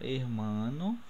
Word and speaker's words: hermano: Então, hermano, o som forte está no mar, né?